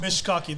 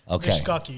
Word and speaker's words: mishkaki: say it mishk mishkaki that's that's a swahili word mishkaki yeah mishk and what